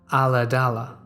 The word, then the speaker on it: Ulladulla: We lived in a small rural town pronounced Ulladulla on the south coast of Australia.